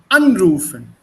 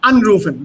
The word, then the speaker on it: anrufen: So if it's separable, the stress will be on the first syllable. Yes, anrufen. Go by that basic rule. Anrufen. Anrufen. Hmm? Anrufen. So this is separable because the stress is on an.